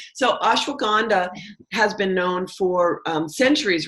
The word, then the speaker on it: Ashwagandha: I mispronounced it many times the first time, so I practiced. So it's Ashwagandha. So Ashwagandha has been known for centuries, really, to help with cortisol and to help with stress.